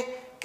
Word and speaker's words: coup: अब छोटा सा वर्ड है, आप सोचेंगे कि अरे ये तो मैं प्रोनाउंस कर लूंगा, लेकिन नहीं, ये भी एक टिपिकल वर्ड है और जिसका प्रोनाउंसिएशन होता है कू।